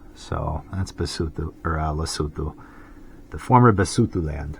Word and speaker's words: Lesotho: right so that's lutu so it's written out like loto but that's how you pronounce it lutu for the uh lutu